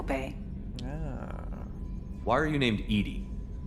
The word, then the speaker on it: EDI: why are you named edie edie is the phonetic pronunciation of edi that is an acronym for enhanced defense intelligence let's see how are